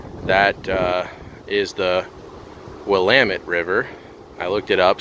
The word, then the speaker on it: Willamette: In my last video from Rocky Butte Park on the east side of Oregon, I pronounced the name of that river wrong. That is the Willamette River.